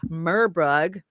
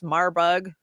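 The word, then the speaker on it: Marburg: watched my reporting yesterday I covered the new murbug virus marbug I think is how they pronounce it virus that uh they're keeping an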